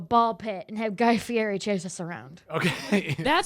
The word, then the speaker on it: Fieri: It is Fieri. Fieri.